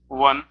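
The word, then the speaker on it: one: उच्चारण हो रहा है ओ का व से हो रहा है, वन, तो क्या लगेगा?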